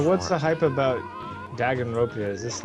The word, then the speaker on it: Danganronpa: Ceiling D called it dang it Ron Paul. I've heard that mostly pronounced as Danganronpa!